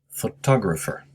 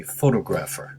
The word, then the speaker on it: photographer: the pronunciation the stress i should say is on the second syllable photographer many students say photographer which is very a natural mistake to make so in order to